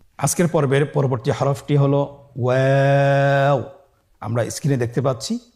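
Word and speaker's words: واو: আমরা স্ক্রিনে দেখতে পাচ্ছি ওয়াও হরফটি উচ্চারণ ক্ষেত্রে বারিক হবে এবং 3 আলিফ টেনে পড়তে হবে। আপনারা আমার সাথে বলুন ওয়াও ওয়াও। 2 ঠোঁট গোল করে মাঝখানে ফাঁক রেখে হরফটি উচ্চারণ করতে হবে।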